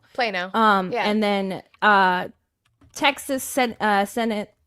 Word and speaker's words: Plano: Texas District 18, Texas Plano. I've been saying it wrong the whole time, so I think it's Plano. Plano.